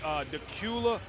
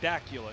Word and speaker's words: Dacula: I think it's Dacula High School. I used to call it Dacula. It's spelled D-A-C-U-L-A. So I'm like, why would you call it Dacula? It's Dacula, Dracula High School.